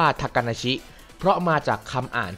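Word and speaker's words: 小鳥遊: ซ้อน ยิ่ง กว่า นั้น คำ นี้ ดัน อ่าน ว่า ทากาชิ เพราะ มา จาก คำ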